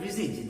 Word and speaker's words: visage: That half sunk, a shattered visage, the word V-I-S-A-G-E, its meaning is face, very easy meaning, but the pronunciation is not that easy. Its pronunciation is like this. Visage. Visage is the pronunciation.